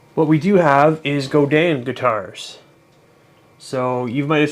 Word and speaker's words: Godin: of people pronounce it Godin which is basically how it's spelled um but it's a French Canadian pronunciation apparently so it's supposed to